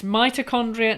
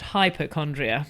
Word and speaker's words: mitochondria: you to pronounce it it's mitochondria not hypochondria my my patients who